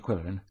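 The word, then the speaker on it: Qwill: that a lot Mr quillin for your information I'm usually called quill oh like in quill pen except that it's spelled with a qw Y said coko I'd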